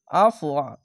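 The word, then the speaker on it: عَفْوَ: আইন ফাইবার আফ, ফের এই ওয়ের উপরে একটি সাকিন দিয়ে আফওয়া আফওয়া আফওয়া, এইভাবে থেমে যাবেন। এক আলিফ টেনেও পড়তে হবে না, শুধু আফওয়া আফওয়া এইভাবে ওয়াওটিকে উচ্চারণ করবেন।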